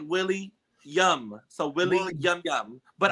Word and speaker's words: William: Because the subscribers be getting in on me because they be saying I say Willem. So I like it's like Willie Yum.